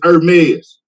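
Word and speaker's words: Hermès: It's Hermes. You got to say it like that, Hermes.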